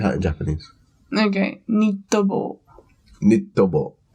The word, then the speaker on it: ニット帽: Nittobo. So knitted, nitto. Okay. And then 帽 is like taken from 帽子. Boshi. So ニット帽. Nittobo.